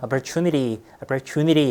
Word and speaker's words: opportunity: opportunity 사실 이제 t인데 이 t 발음은요 좀 약화되는 경우가 굉장히 많습니다. opportunity 이렇게 이제 약화가 되는데요.